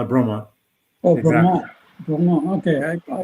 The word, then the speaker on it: Bromont: How do you spell that? Bromont.